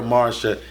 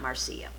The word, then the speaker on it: Marcia: First name is spelled Marcia, pronounced Marcia, not Marcia.